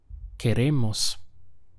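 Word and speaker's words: queremos: remember what that is que Ramos we have three syllables okay ray mas que Ramos how would you say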